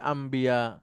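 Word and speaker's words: أنبياء: সহজ জিহ্বার সহজ অর্থে সহজ করা হয় যেমন আনবিয়াটা হয়ে যায় আম্বিয়া এরপরে আরো কিছু কিছু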